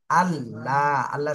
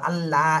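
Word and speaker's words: الله: হামজাহ লাম জবর আল লাম খাড়া জবর লা আল্লাহ শব্দের জানে জবর তাহলে এখানে মোটা করতে আল্লাহ এরম বলা যাবে না ল বলতে হবে ল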